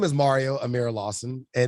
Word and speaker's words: Mareo: big one all right so my name is mario amira lawson and it's spelled with an e mario is spelled with